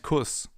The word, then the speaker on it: Kuss: Because in front of a double S, the vowel is always pronounced short, as in Fluss or Kuss, for example.